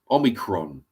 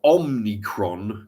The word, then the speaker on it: Omicron: you know thank you George C uh omicon Omicron or omnicron as uh George as as kiddie sniffer Biden would pronounced it the other day um omnicron Omni